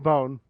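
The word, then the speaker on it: Bonne: It is written as Bon in Japan. Bone. It's pronounced Bone. Hmm. Her name was supposed to be a musical reference as in trombone, Tron Bone, yeah.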